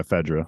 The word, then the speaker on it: FEDRA: I mean, we know that Joel talks to Fedra. He talks to. Did I say it right? Fedra, right? Yeah, Fedra.